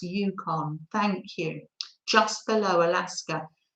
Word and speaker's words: Yukon: i say it wrong it's pronounced yukon thank you just below